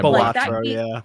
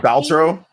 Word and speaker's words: Balatro: So I might be saying the name wrong, but Balatro? Yeah, Balatro, yeah. I've been calling it Baltro. I've been calling it Baltro this whole time.